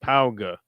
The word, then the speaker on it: Pauga: Zach Paug, pronounced Pauga.